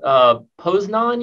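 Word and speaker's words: Poznań: And is it pronounced Poznan University?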